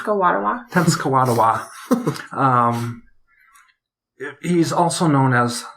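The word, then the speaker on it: Tenskwatawa: Native American nation that I'm sorry could you pronounce the name t kadawa tens kadawa um he's also known as the prophet so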